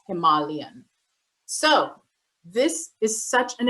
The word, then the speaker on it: Himalayan: That's actually how you say it. It's not Himalayan, it's Himalayan.